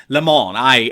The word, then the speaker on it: Lemon: remember Don Lemon and yes I know he pronounce it Lamoni I know Don Lemon